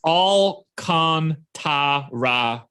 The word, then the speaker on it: Alcantara: matchup by the way it is all con ta ra as the pronunciation on baseball reference thank you all right